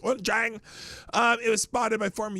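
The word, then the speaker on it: Wuchang: No, that's how it's pronounced. Wunchang.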